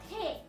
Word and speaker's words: 手: In Japanese, it's called as te, T-E.